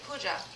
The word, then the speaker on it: Pooja: Pooja. I said it right? Okay, good. Because Puha didn't sound right. It sounded kind of dirty.